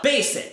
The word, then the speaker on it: basic: Basic, que por sinal é assim que se pronuncia, tá? Básico em inglês não se pronuncia basic. O som de Z não, é basic. Basic.